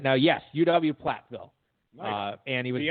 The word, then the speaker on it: Platteville: Have you ever been to Platteville, by the way? No. Okay, Platt rhymes with flat.